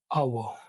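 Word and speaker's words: hour: कैसे आएगा सबसे पहले आवर या फिर ऑनेस्ट या फिर ऑनर इन सब में क्या है एच साइलेंट है तो ओ से स्टार्ट होता है अव आवर ए ऑनेस्ट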